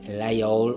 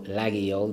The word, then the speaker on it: Laguiole: So I have something very traditional, my layol or laguiole, depending on what part of France, whichever way I pronounce it, the other half has a go at me, so you can never get it right.